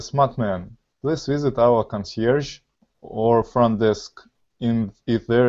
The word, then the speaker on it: concierge: Concierge. Yeah, it's a French word.